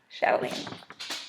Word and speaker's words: Chatelaine: Chatelaine. Sorry. That's how you say it.